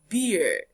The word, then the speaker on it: beer: Bear and B E R is pronounced beer.